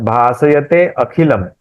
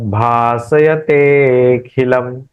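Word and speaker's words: भासयतेऽखिलम्: इसलिए हम जब बोलेंगे तो एक साथ बोलेंगे वि फ्लो बोलेंगे। जगत भाषयते खिलम ते खिलम उच्चारण करेंगे ते और खी इनका उच्चारण करेंगे। ते को खींचेंगे इसका मतलब वहां अ है।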